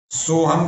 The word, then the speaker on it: सोहम: उच्चारण आना चाहिए आपको सोहम का उच्चारण आना चाहिए जैसे ओम बोलते हैं वैसे ही सो हम बोला जाता ठीक है शवास भरते